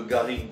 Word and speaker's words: garrigue: On retrouve évidemment les notes de garrigue de chez nous, parce que toutes les essences qui vont se multiplier avec le thym, la lavande.